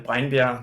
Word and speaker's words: Breinbjerg: So my name is Breinbjerg, that's the Danish way to pronounce it, and I'm a full-time nature and landscape photographer here in Denmark.